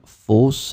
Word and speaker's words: fosse: plural, as we saw, it would be pronounced the same way, fosse.